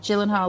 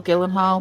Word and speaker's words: Gyllenhaal: Is it Gyllenhaal or Gilly Hall? But she played the mom who was like, don't ask me to pronounce it with my pronunciation. Genal or whatever. Gyllenhaal. Gil. I think she was like Gillan Hall.